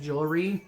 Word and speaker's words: jewelry: I want to say it like jewelry because that's the way I was raised saying it. But jewelry is not the correct. It's jewelry.